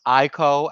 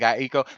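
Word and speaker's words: Aiko: Um it looks like it's pronounced Ieko. I've been saying Aeko, but you know what?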